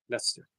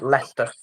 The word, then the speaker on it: Leicester: She says a city in England that I can't pronounce and has the biggest Hindu community in England. Uh that's Leicester Yogi. Lester.